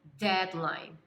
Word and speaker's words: deadline: E atenção com a pronúncia, tá? Repita comigo: deadline.